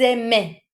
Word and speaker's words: aimaient: Ils aimaient. Ils aimaient. Written how it's written, but pronounced exactly the same as your singular.